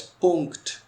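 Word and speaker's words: Punkt: तो नीचे वही चीज़ है कि फुल स्टॉप्स या डॉट इज प्रोनाउंस्ड एज पुंक्ट।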